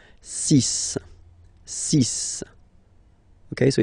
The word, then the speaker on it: six: get the CIS pronunciation Sis Sis okay so it's not six it's sis all right then here